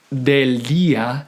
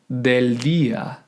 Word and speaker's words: del día: And notice on the words del día that the D is underlined because we don't want to pronounce it del día, which is typically the case when English speakers are trying to speak or sing in Spanish, but we want the